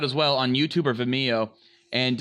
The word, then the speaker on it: Vimeo: I say it like video, but Vimeo. Vimeo. I think it's Video. It's It's Vimeo. video. Vimeo. It's video. With an I M. said Vimeo. Yeah, it's video with an M.